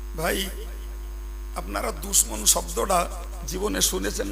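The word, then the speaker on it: دشمن: 4 অক্ষরের সম্বলিত উচ্চারণ হলো, বলেন বলেন বলেন, দুশমন।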